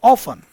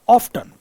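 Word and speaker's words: often: बट ऑफ्ट यानी ऑफन या ऑफ्टन, अक्सर, दोनों इसके ऑप्शन होते हैं, मतलब दोनों इसके प्रोनाउंसिएशन होते हैं। इसको ऑफन भी कह सकते हैं, ऑफ्टन भी कह सकते हैं।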